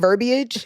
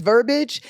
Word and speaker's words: verbiage: I have been um putting the wrong emphasis on the wrong salab I've been saying verbiage instead of verbage and I know it's verbage and I don't know